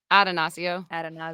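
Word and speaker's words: Attanasio: Atanasio.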